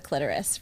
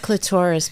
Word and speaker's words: clitoris: main star is the clitoris, right? Because and it's not clitoris, people, just so you know, it's clitoris. So, say it correctly.